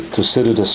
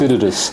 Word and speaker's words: Thucydides: Now, we hope that, we're going to fall into this, what Professor Graham Allison has always referred to, the Thucydides trap, as one of the 4 scenarios out